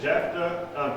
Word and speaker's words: Jephthah: It said Jephthah, Gilead begat Jephthah. Jephth. Is that right? How do you spell it?